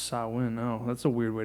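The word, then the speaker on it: Samhain: the ancient Celtic Festival of sah oh sawin pronounced sawin oh that's a weird way to say it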